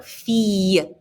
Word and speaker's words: fille: If you look at the word fille, I-L-L. When you see I-L-L, it's a y sound. So, fille.